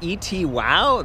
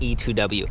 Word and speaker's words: E-TWOW: I asked them I was like isn't it etwow that's what I said during the review that's what it spelled like I mean look e t wow but no apparently no it's pronounced e2w I am done with that name I'm so